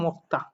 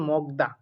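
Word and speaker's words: 먹다: দেখতে পাচ্ছি আমরা মুক্তা এখন অনেকে এটার উচ্চারণ করেন মগদা অনেকে কি উচ্চারণ করেন অনেকে এটার উচ্চারণ করেন মগদা তো আমি বলব যারা আমার গত শুক্রবারের সরাসরি যে ক্লাসটি আমি নিয়েছি যারা আমার সেই হোয়াটসঅ্যাপ গ্রুপে যুক্ত আছেন তারা কিন্তু বলতে পারবেন কেন এটা মগদা না হয়ে মক্তা উচ্চারণ হবে আশা করি যারা ক্লাসটি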